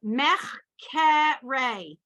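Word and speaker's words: מחקרי: Mechkere. It's in the middle of the word, but they want you to pronounce it.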